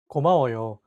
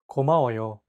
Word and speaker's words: 고마워요: 고마워요. It means thank you. 고마워요. Keep repeating after Jay until you get it. 고마워요. Your turn. 고마워요.